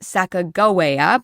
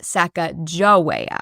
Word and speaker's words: Sacagawea: So if that's true, it would be pronounced Sacagawea because they don't have a soft J sound in their language.